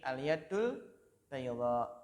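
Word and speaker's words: اليد البيضاء: Jadi yad itu bacanya tidak ditasydid ya, tapi al-yaddul bayda.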